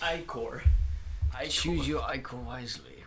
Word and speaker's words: ichor: Pronounced ichor.